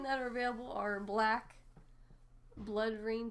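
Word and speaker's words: BloodRayne: The 13 that are available are Black, Blood Rain 2, is that how you say it?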